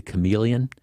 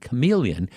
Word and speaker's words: chameleon: and it's one of there are a few words in the English language but not many where the CH where the H is silent you know it's and